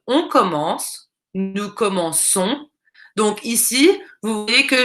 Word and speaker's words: commençons: nous comment qu'ont donc nous voulons dire nous commençons donc on ajoute une série vous commencer et